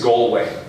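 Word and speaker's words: Gallwey: His second name is Galway. Его фамилия правильно произносится Галвей.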